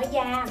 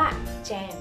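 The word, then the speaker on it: jam: เลย แยม ส้ม แยม ใน ภาษา อังกฤษ เนี่ย ไม่ ได้ ออก เสียง ว่า แยม แต่ ออก เสียง ว่า แจม หื แจม แต่ คน ท ออก เสียง ว่า แยม ใช่ แต่ จริง ๆ ก็ ออก เสียง ว่า แจม ไม่ ใช่ แยม เลย ใช่ มั้ย ครับ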